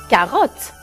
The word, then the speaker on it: carotte: بس كاروت تاخد 2 T. ما منشد بس منقول كاروت. Une carotte. أكيد à la fin on met un E muet. يعني ما منلفظه.